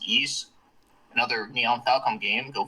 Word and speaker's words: Ys: now is uh the East series which is you know it's spelled out as Ys but it's pronounced East another neon Falcom game